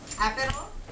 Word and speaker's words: Aperol: Aperol.